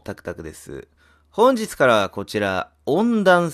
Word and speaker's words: 怨娚: たいとおもいます温暖その聞いたことないですね怨念のあるこれで団と読むらしいんですけどまあまあやっ